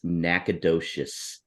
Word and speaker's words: Nacogdoches: It is Nacogdoches, Texas.